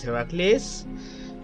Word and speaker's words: Heracles: You see, I'm supposed to pronounce this Heracles.